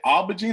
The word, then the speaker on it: aubergine: How do you say aubergine or aubergine? Is there an R in there? Aubergine. Aubergine. You say it the French way. No R. You don't pronounce R.